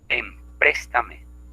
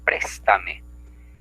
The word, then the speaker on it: préstame: Empréstame, cuando lo correcto es préstame.